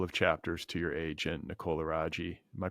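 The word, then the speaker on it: Nicole Aragi: sent a couple of chapters to your agent Nicola Raji am I pronouncing that right yep and Nicole's response and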